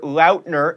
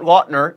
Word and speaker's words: Lautner: played by rafe fines taylor lautner not watner is jacob black in